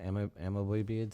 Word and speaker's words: amoeboid: Amoeboid cell.